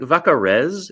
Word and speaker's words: Vaccarèse: I think Vaccarèse. It's a little bit of it's a harder Z sound, and it's an ez at the end because there's